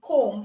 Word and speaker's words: comb: So comb, B in comb is silent. You don't say comb, you say comb.